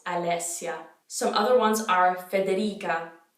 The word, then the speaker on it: Alessia: name that's popular so alessia we have a double s so you got to hold it make sure you're pronouncing all those vowels alessia some other ones are